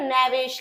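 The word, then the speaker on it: knavish: Rhyme एक जैसा मिला के बोल रहे है ना नेविश लैविश है ना तो जो नेविश होता है वही लेविश होता है। इसमें के साइलेंट है इसको इतना पढ़ना है नेविश।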